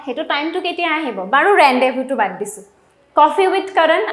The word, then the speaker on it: rendezvous: now next is a rendezvous etu word to লিখুনতে বেলেগ লিখা যায় rendezvous লিখা যায় বাট এটু হৈছে rendezvous pronunciation-ত আমি pronunciation-ত z to pronounce নকৰো আৰু ইফালে s to pronounce নকৰো তো এটু বহুত